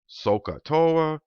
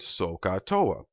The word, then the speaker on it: SOHCAHTOA: with i'm familiar with a word that rhymes with sohcahtoa sokator rhymes with a refreshing beverage that we're all familiar with sokatoa rhymes with coca-cola here's what i'm doing